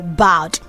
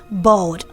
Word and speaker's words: bald: That's what we call bowed. But the right pronunciation of that word is bald. So you don't say bowed, you say bald.